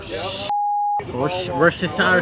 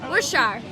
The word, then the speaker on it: Worcestershire: How do you pronounce that? Worcestershire sauce? Worcestershire.